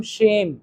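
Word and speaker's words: shame: हैव हैव सम शेम। हैव सम शेम। इट्स नॉट सेम। इट इज शेम। और शेम बोला तो spelling अलग हो जाएगी ना।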